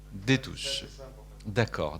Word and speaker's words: Destouche: À sa droite, comment on dit, Destouche ou Détouche? Comme ça se prononce, Détouche.